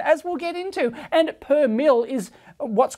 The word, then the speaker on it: per mille: So in the power supply we saw, it was plus minus 2, not percent, it's per mil. So plus minus 2 per mil is the correct way to say it, basically.